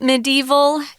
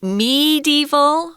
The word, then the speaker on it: medieval: medieval England this word medieval has is about five different pronunciations so for the most part it's pronounced medieval or me medieval with a long e sound um I'm like Tom